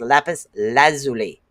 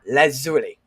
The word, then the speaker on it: lapis lazuli: It's pronounced lapis lazuli, not lazuli, because that's what I call it all the time. My daughter goes lazuli.